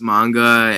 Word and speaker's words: manga: and why is it comics well um it's pronounced manga and i like manga better because basically i